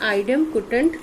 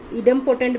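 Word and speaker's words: idempotent: इसको हम लोग बोलते हैं आइडेम्पोटेंट लॉ। आइडेम्पोटेंट लॉ भी बोलते हैं इसको। इडेम्पोटेंट भी कोई कोई प्रोनाउंसिएशन करते हैं, या आइडेम्पोटेंट।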